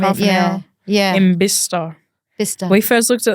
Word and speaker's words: Bicester: I thought it was Bicester. Like Was as it the way I read it spelled like phonetically, Bicester? it's yeah, like Bicester. Manchester. Yeah. And they're like, Yeah. where's Bicester? Oh, no way. And what's it called? Bicester. Apparently it's Bicester.